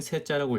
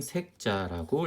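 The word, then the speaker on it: 塞: 이 색자는 변방의 뜻을 가질 때는 세자라고 읽고요. 그 다음에 막히다라고 할 때는 색자라고 읽습니다.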